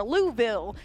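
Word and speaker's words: Louisville: America we're heading on over to louville as uh one of my friends uh from Kentucky was like you said it wrong yesterday on stream so I hope my friend liked my pronunciation this time then we'll hit uh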